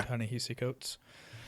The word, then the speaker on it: Ta-Nehisi Coates: and it's Between the World and Me by Ta-Nehisi Coates. Is that how you pronounce it? Yeah. Ta-Nehisi Coates.